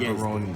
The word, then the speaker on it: Gaborone: I call it Yes, Gaborone. that is how it's pronounced.